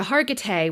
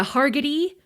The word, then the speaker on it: Hargitay: that might be because it's not how you would pronounce it if you saw it written down. You might be more inclined to assume it was Mariska Hargitay or Mariska Hargitay.